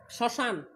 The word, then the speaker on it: শ্মশান: শ্মশান, ম ফলার উচ্চারণ হবে না, শ্মশান।